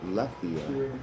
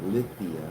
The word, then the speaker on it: Lethe: But Lethia, I spell it Lithia, but Lethia in Greek, in ancient Greek, means forgetfulness.